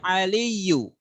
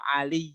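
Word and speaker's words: عَلِيُّ: perhatikan ini ya ya ya aliyyu jangan dibaca ya Ali kau tidak boleh ya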